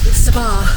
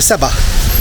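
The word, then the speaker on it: sebgħa: remember what it is sabar sabar in Arabic and in uh malt just kind of shorten that a little bit to seba seba eight femia feminia and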